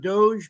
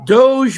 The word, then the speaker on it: DOGE: Almost like Dodge. Doge. Doge. D O G E.